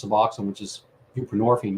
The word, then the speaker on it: buprenorphine: It has roots, in the 70s and whatnot, and just replace your narcotic with something else, whether it's Suboxone, which is buprenorphine, rhymes with morphine, or methadone, ditto, and